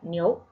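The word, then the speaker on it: 牛: Es decir, se pronuncia vaca, niou.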